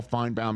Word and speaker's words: Finebaum: Paul Finebomb himself.